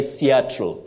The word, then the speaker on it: Seattle: avalange avalan opio op you say Seattle Seattle not CLE Seattle AB aiz you